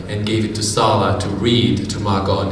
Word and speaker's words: Sala: named Sarah, S-A-R-A, but her parents kept calling her Sala because of the accent. And so she decided to spell it the way her parents called her.